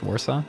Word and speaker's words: Warsaw: Polish pronunciations here, but I think that's Warsaw is how we would pronounce it in English, Warsaw.